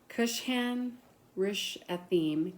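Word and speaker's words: Cushan-rishathaim: Then the anger of the Lord was kindled against Israel, so that he sold them into the hands of Kush Kushhan Rishim, king of Mes Mesopotamia.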